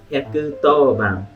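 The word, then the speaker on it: 110番: You will think like 110, but actually it is pronounced as 110 番. 100 means 100. To is a different way. It is an old way to read 10.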